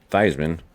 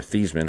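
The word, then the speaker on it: Theismann: This is my, uh, old school Irish helmet that was signed by Joe Thyman or Thesman, however you want to say it. Uh, obviously they changed his name to rhyme with Heisman.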